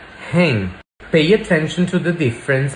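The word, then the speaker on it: हैं: just say he and if you want to make it plural you just pronounce it with a nasal vowel hang pay attention to the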